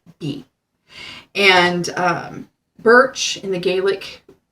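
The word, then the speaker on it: Beith: um pronunciation is like Beth but that's not how it's pronounced be T is how it's spelled that's how I would mentally pronounce it but how it's pronounced is ba like b a y or be and its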